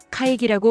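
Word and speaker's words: かいぎ: 가이기, 회의, 카이기라고 발음하며 두 번째 기는 타금입니다. 카이는 짧게, 기는 목을 울려 발음합니다.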